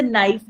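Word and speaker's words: knife: लेकिन कुछ वर्ड लिखने में साइलेंट्स में जैसे नाइफ है। शुरू तो वो के से होता है लेकिन के साइलेंट होता है।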